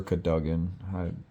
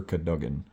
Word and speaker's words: Cadogan: Despite rumors to the contrary, possibly started by Sir Cadogan, or Sir Cadogan, however that's pronounced. I've heard him in the movies pronounce it as Sir Cadogan, so this is most